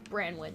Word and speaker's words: Branwen: um their name is their last name is pronounced branwen right yes okay so this is their post